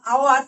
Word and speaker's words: hour: দেখো, তো আমরা উচ্চারণটাই করছি হাওয়ার করছি না, কিন্তু এইচ তো রয়েছে কনসোনেন্টের সেকশনে, আমরা উচ্চারণটা যখন করছি ও থেকে স্টার্ট হচ্ছে, তাহলে আওয়ার, সেই জন্য এর আগে অ্যান বসছে।